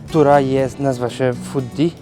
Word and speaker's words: Footdee: Which is called Footdee, I think it's spelled Fittie.